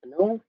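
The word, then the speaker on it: Mānoa: where I attended the University of Hawaii at Manoa and yes that is how you pronounce it and so while I was there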